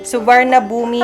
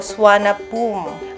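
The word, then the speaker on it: Suvarnabhumi: Subarnabumi ang basa pero swana poom.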